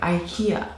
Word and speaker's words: IKEA: And yeah, I'm gonna be pronouncing it the American way, IKEA.